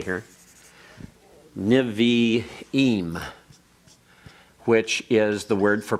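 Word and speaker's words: Nevi'im: for NIH the uh should should niveaim should spell that correctly here nivi eem which is the word for Prophets and then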